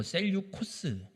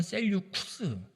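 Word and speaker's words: Seleucus: 이 이란 땅을 정복하고 세워지는 왕조가 셀류커스 혹은 셀류코스 혹은 셀류쿠스, 외래어라 영어를 읽는 발음이어서 자기 멋대로 읽습니다. 저는 이렇게 읽습니다.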